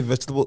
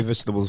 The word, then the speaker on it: vegetables: a while to say vegetable. I still can't say vegetables right. I still can't say it's vegetables because we say every syllable. Because they skip it.